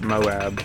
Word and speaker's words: MOAB: pleasing the most but technically the plural of Moab would still be pronounced Moab because it's the my